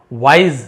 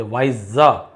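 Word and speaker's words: wise: हैं ईमानदार ऑनेस्ट होना वाइस देखिए वाइस नहीं बोलते वाइज गजल नुक्ता वाला वाइज यानी बुद्धिमान।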